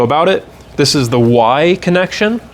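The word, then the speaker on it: Wye: This is the Y connection. They spell it weird, W-Y-E, but it really, you can think of it as a Y, like the capital Y, but inverted.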